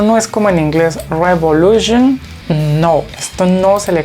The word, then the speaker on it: Revolution: Todas las palabras en alemán que ustedes encuentren con esta terminación se leen Zion. Por ejemplo, en este caso se lee Revolution, Revolution.